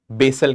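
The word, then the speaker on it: Basel: हम लोग इंडिया में उसको बेसल बोलते हैं पर काफी लोग उसको बासल के नाम से भी जानते हैं। तो जो भी आप प्रोनाउंस करना चाहो यू can call it बासल also.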